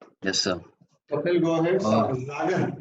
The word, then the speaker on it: sagen: Sagen. S is pronounced as Z when there is vowel after S.